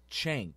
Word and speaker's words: Cenk: Basically what he did was, what the Young Turks, his name is Cenk, but it's spelled C-E-N-K.